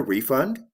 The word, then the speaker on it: refund: words in english we call those word parts syllables let's look at some examples did you get a refund did they refund your money in this case